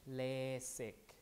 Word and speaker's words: LASIK: of the eye so this pronunciation is lazy in in english let's see with the s lasik with the s but in korean i